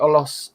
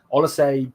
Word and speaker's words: Olise: Is the Olos, I keep calling his name wrong. Olise deal done?